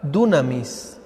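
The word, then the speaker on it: δύναμις: para poder es la palabra de un amis con acento en la uia así como se oye así como como se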